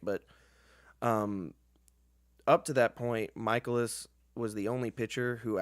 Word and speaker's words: Mikolas: Oh, it was great because even after he said how to pronounce it, everyone was like, "Yeah, Miles Mikolas." It's like no, he said it's Michaelis, guys. Michaelis.